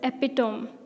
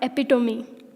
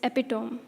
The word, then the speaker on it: epitome: this time and this is epitome not epitome its epitome the color is actually